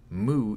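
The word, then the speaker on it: も: from a bit higher MO is pronounced like Mo in more you want to catch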